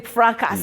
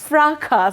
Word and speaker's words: fracas: Always saying fracas. No, it happens. And you think that you know English. It happens to many people, Betty. So it's fracas. So the S is actually silent.